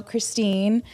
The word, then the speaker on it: Kristen: So Christine, if you're going to read my name, it's spelled like Kristen, but I say there's an imaginary E, so it's Christine.